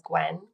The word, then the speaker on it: Gouin: Um you can find me on my website so my name dot com and last name is Gwen. Uh g o u i n I always have to spell that for people.